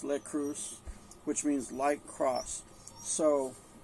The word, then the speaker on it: Leitkreuz: And then the next part is lekreuz, I guess is the way it's pronounced. Something like cruise, lekreuz, which means light cross.